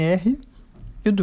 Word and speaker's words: read: Se escreve do mesmo jeito no passado, mas no passado a gente não fala read, a gente fala red, como a cor vermelha.